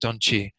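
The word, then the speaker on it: དོན་སྤྱི: It's usually pronounced Donchi.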